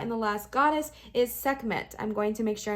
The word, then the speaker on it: Sekhmet: Her name is pronounced Sekhmet. Yes, I did pronounce that right.